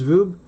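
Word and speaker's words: R/B: that uh verb it's it's pronounced rube but the title is r slash B which also means red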